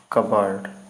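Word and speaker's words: cupboard: चलिए, कबर्ड means होता है अलमारी, इसमें आपका पी साइलेंट रहता है, इसको छोड़ दें, बाकी कबर्ड ही पढ़ते देखते लीजिएगा, ठीक।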